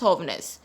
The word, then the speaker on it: jóvenes: Guys, you already know J is pronounced as H in Spanish. It is pronounced as jóvenes.